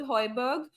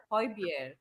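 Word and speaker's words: Højbjerg: will happen right with hyberg everyone will be like hyberg hyberg hyberg because nobody corrected them in the first time and said H beer um yeah pronounce it like it's supposed to be to pronounce you oh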